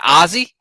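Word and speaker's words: Ozzie: Is it Ozzy? Yeah, that's his name. Yeah. Like Ozzy Osbourne, like it. Yeah, like Ozzy Osbourne, but not spelled with the Y, the I-E.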